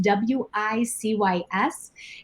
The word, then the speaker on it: WiCyS: We often go by our acronym WiCyS, W-I-C-Y-S, and we do pronounce it WiCyS, like we sisters, and that's exactly what we are.